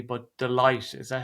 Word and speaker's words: Deloitte: This is I can't ever really pronounce the name of this company, I think, correctly, but Delight, is that how you say it? Yeah, Deloitte, I think.